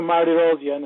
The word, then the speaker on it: Mardirossian: well yes we get here perfect yeah you pronounce my last name really well it's dr. Marty rhodium and people around here call me doctor am